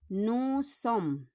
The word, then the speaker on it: Nous sommes: We don't pronounce the S.